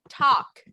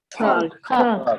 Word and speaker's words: talk: Talk. Talk. Talk. Cuidadito aquí con la pronunciación. Hagan de cuenta que yo elimino esta L de aquí.